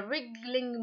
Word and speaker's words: wriggling: to move with a wriggling motion wriggling ok the W here at the beginning it is a silent letter silent sound toilet sound